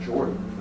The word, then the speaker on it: Jordan: And of course, it was Martin and Clarence Jordan, spelled Jordan, but I think pronounced Jordan, that founded Koinonia Farms.